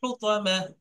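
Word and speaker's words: الحطمة: টান হবে হুত্তা, না। তো তো এরকম টান হয়ে যাচ্ছে, একসাথে বলতে হবে হুতামা।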